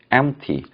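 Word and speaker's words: empty: 제 있냐면 요 mt 세석 피는 묵음 입니까 발음이 나지 않고요 엠티 mt 풍 빈 이라고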